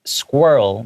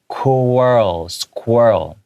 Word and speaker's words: squirrel: Yeah, and then the L, the tongue comes out at the very end just briefly.